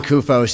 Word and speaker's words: Kupos: president and thank you all for being here and don't worry about the name it's Greek that's the best pronunciation anyone's done in many years again my name is kupos and mr.